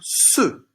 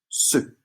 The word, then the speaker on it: ceux: Ceux. E-U. Et puis un X qu'on voit souvent, qui ne chante pas, mais qu'on voit souvent pour parler de plusieurs objets. Ceux.